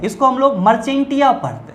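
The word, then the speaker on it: Marchantia: है इसको हम लोग मर्चेंटिया पढ़ते हैं। क्या पढ़ते हैं, मर्चेंटिया पढ़ते हैं। शुद्ध प्रोनाउंसिएशन इसका मर्चेंटिया होता है, या हम लोग इसको मर्चेंसिया कहते हैं।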